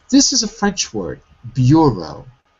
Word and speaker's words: bureau: So the vowel is pronounced in the stressed syllable. This is a French word, bureau.